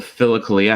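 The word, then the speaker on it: Philokalia: pronounce it uh the phillicalia how do you spell that p-h-i-l-o like philosophy philo friend or whatever kalia is the good or the beautiful kalia k-a-l-i-a nothing to do with cali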